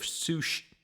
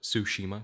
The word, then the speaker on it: Tsushima: do maternal ghost of sushi sorry i mispronounced that it's ghost of tsushima because it's like tsunami the t silent you see see i'm